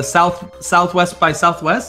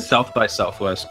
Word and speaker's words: South by Southwest: Today we're going to be talking about the Sonic Anniversary Panel at the Southwest by Southwest. Is that what is how you say it? South by Southwest.